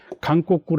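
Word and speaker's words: 韓国: However, now that Korea, which Japanese pronounce as "Kankoku," are included in the attack, So old comers and new comers need to respond cooperatively.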